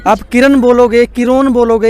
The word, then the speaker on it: Kirron: है आप किरण बोलोगे किरोन बोलोगे या फिर किरण बोलोगे क्या बोलोगे आप मुझे किरण ही बोलिए सिर्फ अंग्रेजी में नाम लिखने की स्पेलिंग चेंज की है क्योंकि आजकल न्यूरोलॉजी का